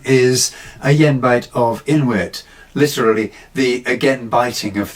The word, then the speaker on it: Ayenbite of Inwyt: In medieval times, the title would have been pronounced something like Agenbite of inwit.